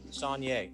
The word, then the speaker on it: Sonier: that's fine uh but i want you to tell me how to pronounce it so i get it right sonja sanye okay mr sonier uh good morning to